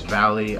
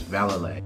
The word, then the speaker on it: Vallely: I ended up walking away with some Mike Vallely skate shoes. And I thought it was Valley. I thought it was Vallely. I just looked on YouTube. The way he says it is Vallely.